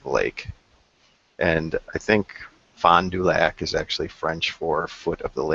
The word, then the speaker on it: Fond du Lac: it's Fond du Lac, Wisconsin. Fond du Lac? Fond du Yes, Lac. yep. Very good. How do you say it? Fond du Lac.